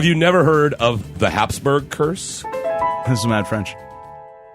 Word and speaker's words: Habsburg: of Habsburg it's actually Habsburg but for some reason America we like to put a P in there called Habsburg but it's actually Habsburg well South America puts